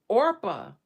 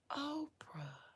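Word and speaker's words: Orpah: character in Ruth Oprah Orpa. Her name she just moved the letters around. Named after a biblical character in Ruth Orpa. Her name was mispronounced and she became Oprah.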